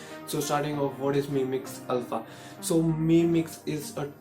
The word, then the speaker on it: Mi Mix Alpha: So properly it's pronounced as Mi Mix Alpha.